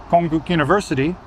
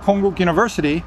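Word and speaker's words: Konkuk University: And that's why, you know, Konguk University, see, I just pronounced it with a K, a hard K.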